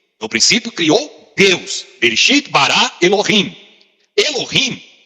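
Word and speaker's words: בראשית ברא אלהים: No hebraico, essa primeira expressão se pronuncia assim: Bereshit bara Elohim. No princípio criou Deus. Bereshit bara Elohim.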